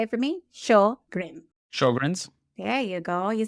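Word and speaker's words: Sjögren's: So the way I explain okay how to say show just think about the TV show show and then grin. Can you say it for me? Show grin.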